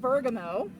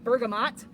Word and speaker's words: bergamot: So this one, depending on where you are and who you are, you might pronounce the name a little differently. I call it Bergamo. Some people call it bergamot or bergamot. However you pronounce it, it is in the bee balm family.